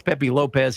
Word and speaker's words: Lopes: And it's not uh it's spelled Pepe Lopes, but that's Pepe Lopez and Don Kent against Frank Monty and Steve Kovac.